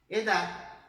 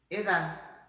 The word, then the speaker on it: edad: Edad, edad. Tengo 41 años de edad, ¿ok? Universidad, universidad, viu? Então tem que bater lá atrás dos dentes, mas a gente não vai fazer a pronúncia dessa letra, tá?